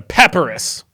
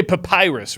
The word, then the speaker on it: papyrus: A paparus. You say papyrus, right? The cadence goes in the middle syllable.